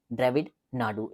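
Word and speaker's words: திராவிட நாடு: ड्रविड नाडू ए silent रहेगा।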